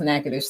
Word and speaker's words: Natchitoches: I always correct people because the spelling of the town that he's from it's very it's spelled Natchitod, something like that, but it's pronounced Natchitoches.